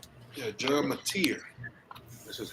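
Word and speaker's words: John Mateer: John Matier, that's how you say that's really how you say his name. Oh, I said Mater.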